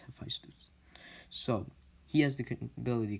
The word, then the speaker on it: Hephaestus: And if you say I'm pronouncing it wrong, everyone you've seen, most of them, they've just been pronouncing this guy's name wrong. It's Hephaestus.